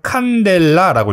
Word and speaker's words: cd: 단위는 CD라고 씁니다. 뭐라고 읽습니까? 칸델라라고 읽어요. 칸델라.